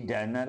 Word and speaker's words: Danae: এই রাজার এক বিউটিফুল ডটার, সুন্দরী মেয়ে ছিল, তার নাম ছিল ডায়ানি। ডাইরেক্ট বানানটা ডায়না নয়, DANAE, ডায়ানি।